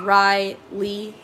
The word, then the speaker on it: Rhylee: And the way we spell it is Rhylee. So it's like Riley. And so it's not spelled like a normal Riley.